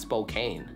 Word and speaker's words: Spokane: and children are in Louisville Kentucky uh that's Spokane right common popular pronunciation Spokane Spokane prevailing local pronunciation Spokane Spokane